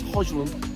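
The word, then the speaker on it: Højlund: Well, obviously, I've got Danish relatives, so it's Hoyland.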